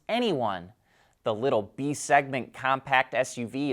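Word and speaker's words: e:Ny1: Here's a look at the prototype, whose name we think is pronounced Anyone.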